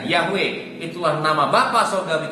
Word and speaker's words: Yahweh: yang benar yaitu nama yahwe yo wei wei dibacanya yahwe itu warna ma Bapa Surgawi kita sampai turun-temurun